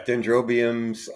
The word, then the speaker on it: dendrobiums: you mainly grow dendrobiums is that the correct pronunciation yeah dendrobiums I grow all sorts of Miniatures uh there's